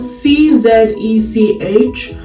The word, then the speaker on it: Czech: Um it's spelled C Z E C H but I think pronounced Czech Republic.